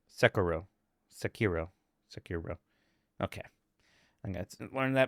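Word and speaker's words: Sekiro: Even Japanese doesn't stress any syllables. Just Sakuro.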